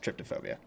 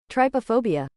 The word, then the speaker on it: trypophobia: I think it is pronounced tryptophobia. Trypophobia. Trypophobia. Trypophobia. I think so.